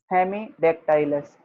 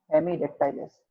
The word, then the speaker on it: Hemidactylus: सर वाल lizard की spelling है वो साइंटिफिक दोबारा से बोलना। हेमीडेक्टाइलस, HEMIDACTYLUS, हेमीडेक्टाइलस।